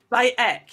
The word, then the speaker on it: Bayek: By ek, you don't pronounce the H. But you don't pay, yes, the H. It's by, just ek. And then ek. Yeah, by ek.